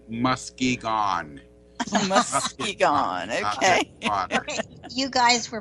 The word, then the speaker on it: Muskegon: You'll have to spell it again. Muskegon. O-N. Okay, Muskegon, Michigan. Okay. As the natives said, Muskegon.